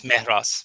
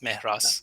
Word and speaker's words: Mehras: But the right way is Mehras, Mehras. So Mehras. there's no, a strong emphasis on H.